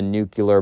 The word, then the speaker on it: nuclear: Sorry, I pronounced it wrong. Not nuclear, it's nuclear. My grandmother loves telling me, like, nope, wrong, because I'm always like, nuclear, she's like, nuclear, which I might as well pronounce it correctly.